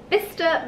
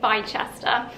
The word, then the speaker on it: Bicester: i picked up at vista village i had a couple of people ask how to pronounce it because in the last video i called it by chester but i just call